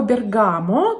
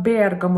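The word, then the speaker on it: Bergamo: пункта в этом списке это слово бергамо который на самом деле звучит как бергамо название города который в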